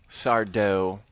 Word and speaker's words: Sardo: Sardo. No, mister. Accent on the dough.